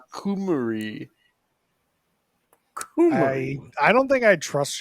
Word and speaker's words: Cymru: Cymru is pronounced Kumari.